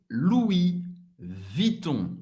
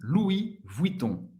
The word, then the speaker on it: Louis Vuitton: Uma das marcas também mais famosas do mundo, Louis Vuitton. Louis Vuitton, ok? Louis, o U em francês tem um som do U, da letra U em português. Louis, não vai pronunciar o S.